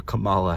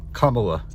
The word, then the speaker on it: Kamala: it opened its mouth and said, "Vote for Camala Harris." And it died before I could correct it and say it it's pronounced Kamala in Paris.